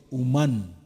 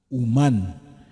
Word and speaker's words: humán: Así como lo oye, humán, con acento en la A, humán.